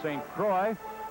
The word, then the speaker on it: St. Croix: By the way, St. Croix, here in Philadelphia, they sometimes pronounce his name St. Croix. The correct French pronunciation is St. Croix.